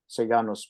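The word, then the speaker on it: Sejanus: uh Tyber trusted s sanus if I use the English pronunciation sanos probably is more correct in Latin um and for 15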